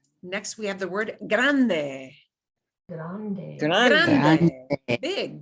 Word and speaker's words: grande: Next, we have the word grande. Grande. Grande. Big. GR Grande. makes a hard G sound.